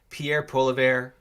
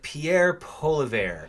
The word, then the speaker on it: Pierre Poilievre: It's like Pierre Poilievre. Yeah, it's not spelled like it sounds, but he's a French-Canadian guy.